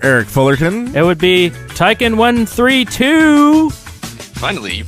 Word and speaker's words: Tyken132: guess be mr eric fullerton it would be tycon132 finally you pronounced it right yay not 132.